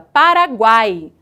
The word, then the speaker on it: Paraguai: Observem o seguinte, quando falamos a palavra Paraguai, há uma tendência muito grande de que pronunciemos a letra A com maior força, e a letra U e a letra I de maneira mais fraca, de maneira pincelada, Paraguai.